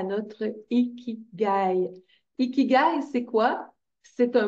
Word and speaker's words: Ikigai: Japonais appelleraient quand on est connecté à notre Ikigai.